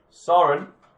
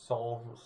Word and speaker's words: Sauron: Soren. Have I pronounced that right? Who? Sauron.